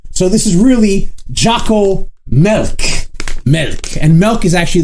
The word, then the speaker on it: Milk: So today I'm going to be reviewing Jocko's Milk, or Milk. It is not pronounced Molk. Even if Jocko calls it Molk, that's not what it is.